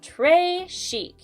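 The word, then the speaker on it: très chic: a bracelet tray chic you say it like this tray chic it means very fancy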